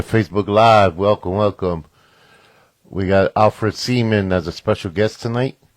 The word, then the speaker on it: Alfred Seaman: We got AlFred Seaman as a special guest tonight. I pronounced the name right?